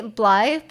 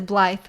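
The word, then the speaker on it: Blaidd: So my favorite guy, definitely not a furry, Blythe, is pronounced B like this. So it looks like Blade, but it's Blythe.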